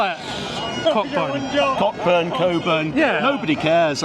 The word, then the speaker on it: Cockburn: We're on the Royal Mile, but there's Cockburn Street, if you want to pronounce it right, but I call it the word that no one likes, Cockburn.